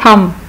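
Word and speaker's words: thumb: इसी तरह थम, जो अंगूठा है हाथ का उसको कहते हैं थम, इसमें बी साइलेंट है।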